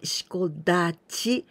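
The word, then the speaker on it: 四股立ち: And here, we pronounce Dachi, Shiko Dachi, because there's some other word before this Dachi.Then we say with ten ten, shiko dachi.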